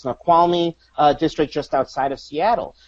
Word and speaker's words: Snoqualmie: Just a couple of days ago, I was in, I think it's pronounced Snoqualmie district just outside of Seattle.